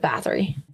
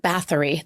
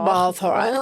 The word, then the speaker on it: Bathory: But I could see, like I said, because I looked up Elizabeth Bathory and I looked up Bathory. There's no fucking L in it. Balthara.